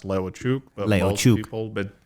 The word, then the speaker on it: Leucic: I just say Leucic, but it's pronounced Leucic. Leucic.